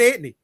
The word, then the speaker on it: Anthony: close to saying that the way you do the way we do it here in in New York, right? It's Anthony, right? So here she was trying to elevate it, right? And that's my cousin Anthony. You know that that's it. Now it's Anthony. It's Tony, right? But hey yo, I'm going to Anony's house.